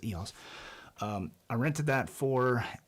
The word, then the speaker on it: EOS: eos r3 eos r3 so how you pronounce it just watched a philip bloom video and he corrected me well corrected everybody it's eos um i rented that